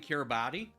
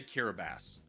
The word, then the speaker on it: Kiribati: Instead of saying Kiribati, say Kiribati. And people will be like, you're pronouncing it wrong. Be like, no, I'm pronouncing it correctly.